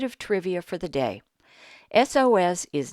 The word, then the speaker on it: SOS: the point is that the first sound in SOS is a vowel sound it sounds like a short e so we have to